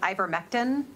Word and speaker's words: ivermectin: So it'll be my first mispronunciation, I'm sure, of the day. Is it ivermectin?